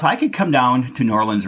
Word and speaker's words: New Orleans: David if if I could come down to New Orleans right now or as you say Norland as you told me that's how you pronounce it down there but I can't get